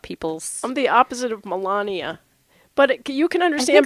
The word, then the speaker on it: Melania: I'm the opposite of Melania, but you can I understand. think that's not her name. I think it's like Melania. Melena, I think. No, it's Melania.